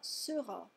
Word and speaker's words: sera: Si vous ne prononcez pas correctement la distinction phonétique entre sauront et seront, ça pourrait poser des problèmes. Donc, O pour savoir, saurait, saura, saura, et E pour être, serait, sera, sera.